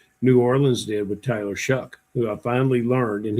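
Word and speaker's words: Shough: But Tyler Shuck, I thought given a full season last year, he came on late.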